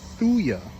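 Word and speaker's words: Thuja: what you call that a fuja or thuya me and my pronunciations that's a thuya arbavidi they get really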